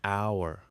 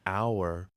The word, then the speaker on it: hour: For example, an apple, an egg, an hour, or an umbrella. Notice that in an hour the H is silent and we actually hear the vowel sound at the beginning.